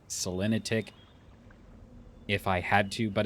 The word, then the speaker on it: Selenitic: I've heard people call it Selenetic Age. I personally always called it Selenitic if I had to,